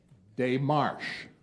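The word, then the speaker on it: démarche: spell for the championship day Marsh day Marsh or day Marsh dear this is a French word and it means a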